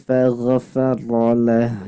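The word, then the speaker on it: فَغَفَرَ لَهُ: Nah, faghfirli faghfarolah. Coba ini. Faghfirli faghfarolah. Nah, bukan fago, tapi fagho.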